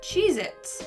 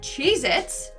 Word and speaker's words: Cheez-It: number nine we have cheez-its but apparently that tasty cheese cracker is not called cheez-its it's cheez-it either i've been saying it wrong my entire life or this is proof